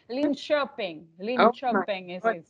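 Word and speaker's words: Linköping: much better than me it's okay lean shopping i would never even guess that i know because who would think that k stands for chair or sure right but it does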